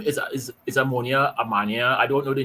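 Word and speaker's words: Omonia: name is is ammonia amania I don't know the name it's that sort of oh but it's pronounced ammonia right like the chemical ammonia right right the team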